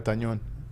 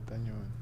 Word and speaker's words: Tañón: Let's go Olga Tañón. Olga. Spell it. OLGA. No, not Olga. Oh. Jesus, ain't that bad. Tañón. TANON. TAN. ON. That's it. Yeah. But the it's an Enya, so the Oh, okay.